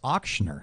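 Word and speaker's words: Ochsner: messing with you Oscar we were talking about the Oscar it's auktioner I know that's II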